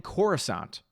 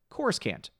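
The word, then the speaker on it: Coruscant: voice actors terrible when instead of him saying Cora sont which anyone who's watched Star Wars you know oh yeah Khorasan I know where that is he pronounces it course can't and that's not just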